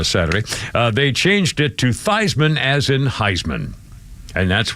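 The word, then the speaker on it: Theismann: And they reason they changed his name pronunciation was Heisman. Thyman as in Heisman, but his real name is Theman.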